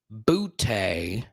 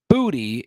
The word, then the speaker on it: Booty: players last names right so bootay is how we have been pronouncing it for a long time all right the truth is booty is how you pronounce it okay according to